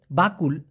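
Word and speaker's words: bakul: Malaysian ভাষায় বলা হয় বাকুল বাকুল আবার কেউ বকুল শুনেন না আবার কবুল শুনেন না বাকুল বাকুল মানে ঝুড়ি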